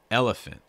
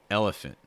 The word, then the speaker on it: elephant: um our next word elephant elephant stress that first syllable really heavy the other syllables you can be a lot more relaxed and stay faster elephant elephant okay oh we